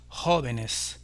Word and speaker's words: jóvenes: de l'écrire pour montrer que cet accent est bien sur la première et que l'on dit los jóvenes, tout comme on disait pour le singulier joven.